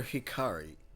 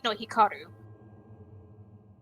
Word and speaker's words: Hikaru: Is it Hikaru or Hikari? No, Hikaru. Hikaru. Okay, I don't want to say her name wrong because you know what happens if you do. The last letter in her last name is U.